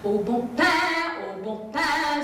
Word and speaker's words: Au bon pain: Au bon pain, au bon pain, it is not pronounced bon pain. Though your French is rather lacking, I will help you if I can. Au bon pain, say it with me, au bon pain.